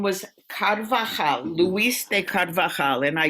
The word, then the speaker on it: Carvajal: we got kadva and you know that in in spanish you laugh right j-a-j-a-j-a and chanukah is spelled with a j and hai is spelled with the j so it's called okay